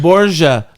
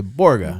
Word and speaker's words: Borga: We said Borgia because that's the right way to say her name. I asked her that, but most people will say Borga.